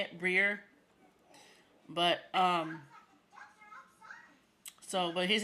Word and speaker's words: Briere: All right, it's hard to pronounce it. I don't know why people mess it up, but it's Brier. Like like how you spell beer, but Brier and Beer and Brier are spelled differently.